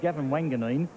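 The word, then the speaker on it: Gavin Wanganeen: Well, the one young player we're all raving about is Gavin Wanganine.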